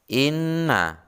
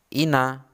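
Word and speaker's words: إِنَّ: bukan cuma tetapi Hai contoh berikutnya adalah Inna Nun nya double Hai atau berlipat kau bukan Halo Ina tetapi Inna dan membacanya itu seperti orang snow Hai suara keluar antara dari mulut dan hidung tapi lebih dominan ke hidung coba ditirukan cara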